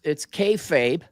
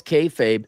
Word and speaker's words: kayfabe: Well, right, but everyone kind of knows it's kayfabe. See, I pronounced it correctly there. They know it's kayfabe.